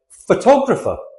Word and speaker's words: photographer: Like photographer, photographer. Photograph. We stress the pho. Photographer, we stress the tog.